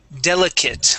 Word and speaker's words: delicate: A lot of times I say the A-T-E at the end of the word, okay? Delicate. This is another one of those situations that sounds like a short I and a T, just like that, delicate.